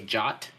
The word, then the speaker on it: JWT: So our next one is JWT authentication, and JWT stands for JSON Web Token, aka JOT. Right? It's actually in the spec that's how you pronounce it.